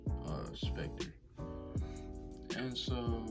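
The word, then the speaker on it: SPCTR: it's called spectre it's spelled s-p-c-t-r but it's pronounced uh specter and so right now as of today we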